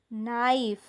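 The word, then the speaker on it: knife: इथे के चा उच्चार होत नाही नंतर नील नाईफ नीट नॉक बघा ्या शब्दांमध्ये के लिहिलेला आहे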